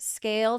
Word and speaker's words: SCAYLE: You know your platform stinks, so visit Scale today. That's SCAYLE. Yes, the Y is silent because you never have to ask why Scale isn't performing.